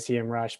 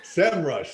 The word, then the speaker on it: SEMrush: People ask all the time, and the founders were like, Sem Rush. Sem Rush. That's it. The Lord of the land came down and said, that's how you say it. Okay. Well, I will now try to remember that it's Sem Rush.